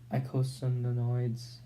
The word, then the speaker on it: eicosanoids: Classes of lipid derivatives: eicosanoids, eicosanoids.